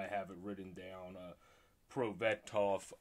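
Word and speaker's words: Prosvetov: it written down uh pro betoff um is how you say that i believe for um ivan their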